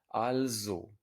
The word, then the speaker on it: also: therefore and it's pronounced an s before a vowel at the beginning of a syllable is almost always pronounced as a z in german al zhou hello be heist be